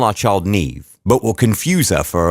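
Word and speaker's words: Niamh: one how's that Hermione or if your name is Nev n I ay M H how is that Nev I mean how how when your thinking will call our child Nev but will confuse her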